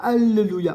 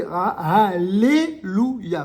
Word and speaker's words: alléluia: la règle du milieu on devrait dire alleluia on dit pas allelluia on dit alléluia pourquoi on dit alléluia parce qu'il y a de laamè et que quand il y a deux cones qui se suivent et bien